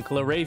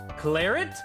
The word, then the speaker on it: Claret: This book is a collaboration between the Canon Claret family and the Feline Wishian family. You pronounce the T? Claret? Ew! Nah, it's Claret, it's French.